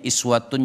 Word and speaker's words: iswatun: Kalau kita kembalikan ke ayat 21 ini, laqad kana lakum fi rasulillahi, ada yang bacanya uswatun boleh, ada yang bacanya iswatun juga boleh.